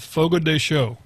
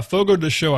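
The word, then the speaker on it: Fogo de Chão: can find it yeah Fogo de show I'm pretty sure that's how that's how it's pronounced but it's Brazilian steakhouse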